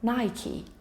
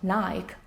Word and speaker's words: Nike: The name is pronounced Nike, not Nike, as it is commonly known.